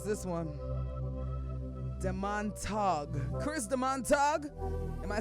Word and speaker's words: Demontague: Yeah, Demontague. Demontague. Yeah, Chris Demontague. Wow, Demontague. I would have never pronounced Demontague.